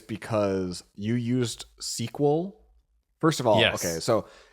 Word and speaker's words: SQL: need to know that programmers when they verbalize it pronounce it SQL SQL yes and then you